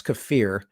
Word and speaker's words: kefir: or uh kefir if you guys pronounce that kefir you're pronouncing it wrong it's kefir and that is a a fermented milk drink